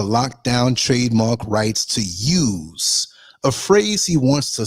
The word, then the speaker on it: YEWS: It's called I'm spelling it out, YEWS, which sounds like use, not like use guys, hey, use guys, no.